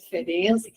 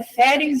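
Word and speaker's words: Ferenczi: errado, mas que sempre fica uma discussão se é ferens ou ferze, né? E dessa vez o Luiz Cláudio, que foi quem levantou no grupo a questão que era fense que se informando a pronúncia em húngaro seria ferense, né?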